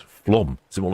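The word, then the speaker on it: Flåm: So it's flom. Is it more like flom? Perhaps Hans can help me out there. Oh, and shipmate Finn says apparently it's pronounced flom.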